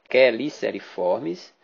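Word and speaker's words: Cheliceriformes: do subfilo dos queliceriformes escreve-se chicer com ch mas a pronúncia queliceriformes aqueles que têm quelíceras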